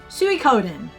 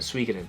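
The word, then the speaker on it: Suikoden: okay second last one Su Coden not suen Su cenen um I've been growled more than once on the pronunciation of this but I'm going to blame other YouTubers I've watched big Channel YouTubers that keep calling it swen and I have other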